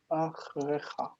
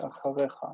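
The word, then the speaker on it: אַחֲרֶיךָ: So naturally it would want to be said achrecha, achrecha. But because it's a guttural, instead of saying achrecha, it's going to say acharecha, and just echo the vowel of the first syllable.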